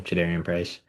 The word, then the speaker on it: Jadarian Price: That's how you say his name, Jadarian Price.